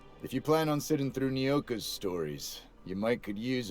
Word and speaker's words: Nyoka: name is spelled the same way and we pronounce it Nyoka and she goes by no key for short